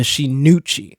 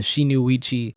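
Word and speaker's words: 真打: God's green earth, the Shinuchi. And I put so much emphasis on the Uchi part because I've been pronouncing it as the Shinuichi ever since I read the name.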